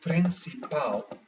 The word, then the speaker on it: principal: gets the stress so for instance in portuguese principle is principal now l is found in luzir and it is found at the end of this word so therefore the last syllable pal gives the stress instead of the second last one so it's not principal